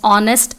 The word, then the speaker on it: honest: har are wrong pronunciation we actually have h as silent in both the words so it is pronounced as honest and are so manthan